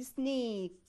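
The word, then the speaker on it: snake: زيها مثلا زي ما اقول مثلا سناك سناك اند سنيك سنيك. ليه انا قلت هنا سنيك لونج فاول؟ لان انا عندي ايه سايلنت اي وبعد الفاول في كونسوننت.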